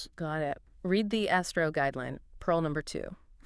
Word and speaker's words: ASTRO: That's ASR O, pronounced Astro.